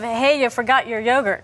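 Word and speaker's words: Eyjafjallajökull: who couldn't pronounce it the glacier is called Aya fet y aat yogurt just think of hey you forgot your yogurt no I've got it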